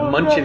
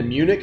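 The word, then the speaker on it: München: It's spelled Munchen, nice. Munchin, and I was like, okay. Well, and I wonder if Munchin spelled like that, if in German it means like from Munich or something.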